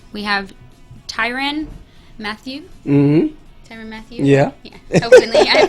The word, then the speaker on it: Tyrann Mathieu: Tyrann Mathieu? Yeah. Hopefully I pronounced it right.